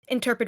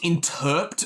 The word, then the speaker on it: interp'd: else here in this interpet reality Adventure what are you saying Jesus bear in mind that there it's it's pronounced intered reality there is no e right hang on I